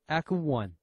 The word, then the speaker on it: ECO: soundtech knowledge like apple so we took the same pronunciation Echo like echography for the easy memory the second reason is